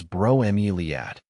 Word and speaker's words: bromeliad: Bromeiliad is pronounced as broilad.